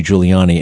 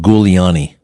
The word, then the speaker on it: Giuliani: Who who remembers when George HW Bush came to New York to campaign for Rudy Giuliani and he called him Gouiani? Gul Gul.